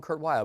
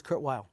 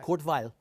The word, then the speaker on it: Kurt Weill: lives of Kurt while I've learned now to say properly and lalena by Ethan and it is wild We Now call him Kurt wild we don't call himore when he died he was Kurt wild okay all not Court vile not all right an